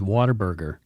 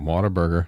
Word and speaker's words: Whataburger: And people mispronounce it as Waterburger. Waterburger. Whataburger.